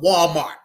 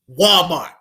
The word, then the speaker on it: Walmart: Now we about to talk about Walmart. Walmart. Notice that I highlight the wall part. WAL. WAL. Walmart was founded by Sam Walton. Sam Walton. Walton Walmart.